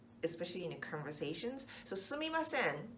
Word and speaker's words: sumimasen: especially in conversations so sue me my sin is the definitely the right way to say it but often we kind of slide in to see my sin so me becomes II see my sin that's faster to say it where this would